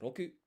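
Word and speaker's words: 六: Six is in Japanese, if you want to say it, it's roku.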